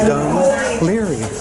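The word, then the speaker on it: Dún Laoghaire: It's pronounced Dun Larry.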